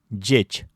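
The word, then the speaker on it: ӟеч: «З» с двумя точками «дж» произносятся как слитно произнесенные мягкие «д» и «ж». «Дж» — это звонкий аналог «ч». Пример. «Джечь» — хороший, хорошо.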